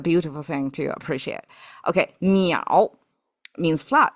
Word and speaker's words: 淼: Now, 水, when we stack three of them, all of a sudden, the pronunciation is completely different. You cannot even infer one to the other. 水 versus miǎo, right?